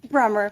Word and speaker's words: Brummer: Did I pronounce that correctly? Brummer, but that's Brummer.